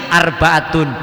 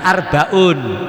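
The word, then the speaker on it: arba'atun: Mubtadanya mu'annas ya khobarnya mu'annas. Makanya bacanya syurutu wujubi zakatin ni'ami arbaatun, bukan arbaun.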